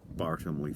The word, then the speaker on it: Bartholomew: Akala t of johnson's bar homely fare to use the period pronunciation again so we talked